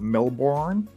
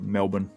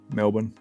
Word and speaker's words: Melbourne: in Melbourne before or is American school at Melbourne mean is the way it looks like it's pronounced but we call it Melbourne Melbourne bloody came over to Melbourne mate Sweden do